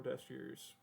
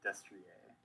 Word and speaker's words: Destrier: Or Destrier. Yeah. It's Destrier. And Echiqueur is French, so you probably. So it's probably pronounced Destrier.